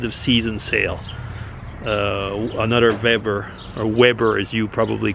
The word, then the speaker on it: Weber: season sale uh another weber or weber as you probably call it over in north america over here with the w's are pronounced like a v so it's a weber